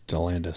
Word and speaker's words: Delianidis: But Delaney Fleming and Lily Delianidis. Delandis. Well, it's spelled like Delianidis. It's spelled Delianidis. Yeah. It's Delandis.